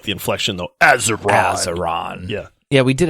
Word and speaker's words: Azeron: And then our buddies at, I think it's Azeron, if I'm pronouncing it right. Azeron. You got to say it with like the inflection though. Azeron.